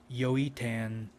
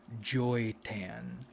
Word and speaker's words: Joytan: One is named Joytan, and originally I was pronouncing it Yoitan, but I wanted the name Joytan, so we're just going to call her Joytan.